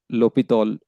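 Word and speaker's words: L'Hôpital: Uh some people write hos or some books they don't write ho pi. So it is uh pronounced as lopeithol rule.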